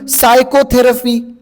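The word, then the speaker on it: psychotherapy: दट very important अजून सायकोथेरपी सायकोथेरपी मध्ये साय एस वाय पासून त स्पेलिंग नाहीय पी पासून सुरू होतं पी चा उच्चार नाहीय प नाहीय पण सायकोथेरपी पी से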